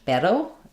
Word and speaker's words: pero: Um, so, uh, in Spanish, pero, um, that R is going to be a flap sound.